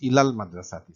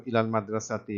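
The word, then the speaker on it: إلى المدرسة: And see here the ila is linking, and this link is shown by the fact that is pronounced ilal madrasati. So ilal madrasati is like almost like a one word, and so this linking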